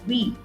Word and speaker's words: Vi: brand called VI, or will be pronounced as We, is looking to target customers and bring them back from rivals Bharti Airtel or Reliance Jio.